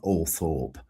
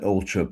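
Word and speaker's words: Althorp: after the funeral at at all trip it's pronounced not all Thorp at Ultrip I stood on the island and said my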